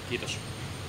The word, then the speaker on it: kiitos: Like I told you before, when pronouncing my name, we don't use aspiration in TMK. So it's kiitos. Kiitos. Yeah, and it's like a sharp S.